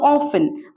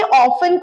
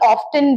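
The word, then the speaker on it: often: वैसे ही हाउ ऑफ्टन अब देखिए ये ऑफें को पहले हम टी साइलेंट रखते थे आजकल ऑफ्टन भी सुनेंगे आप बहुतों से पर ऑफें की तरफ रहे तो बेटर रहेगा पर अगर कोई ऑफ्टन बोले तो वो भी सही प्रोनंसिएशन है अब हाउ ऑफें होता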